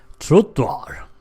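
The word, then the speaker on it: trottoar: Trottoir. Yes, not exactly the same pronunciation as the French, but almost.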